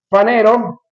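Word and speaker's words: φανερόω: Panero, aunque se escribe panero, se pronuncia fanero.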